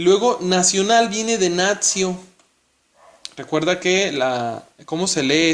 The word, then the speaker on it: natio: luego nacional viene de natio. Recuerda que ¿cómo se lee esta palabrita en latín? Recuerda que la T seguida de I y de otra vocal se pronuncia como TS. Natio.